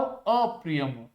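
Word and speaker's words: ऽप्रियम्: अप्रियम। यहाँ पे a silent है, छुपा हुआ है।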